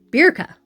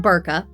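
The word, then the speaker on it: Birka: Berka. Berka, not Burka.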